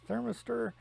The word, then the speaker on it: thermistor: piece of metal here I believe the proper pronunciation for that is thermistor and it is what actually heats up the